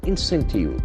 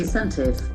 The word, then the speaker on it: incentive: Center earmarks this much amount, 2,600 crore rupees, as incentive. Can see as is a joining word there. Then we get a beautiful word. We see the pronunciation. Incentive. Incentive. T sound must be t.